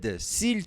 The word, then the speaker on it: s'il: E aqui, ó, biquinho. Sil. Tem esse carinha aqui, ó. Sil. Você pode falar s também, sem pronunciar isso aqui, tá? Esse L é como se fosse isso aqui, ó.